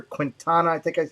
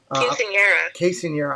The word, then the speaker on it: Quinceañera: Diz Our Dream with their daughter had a big success story recently with their Quintana. I hope I'm saying it right. Quinceañera.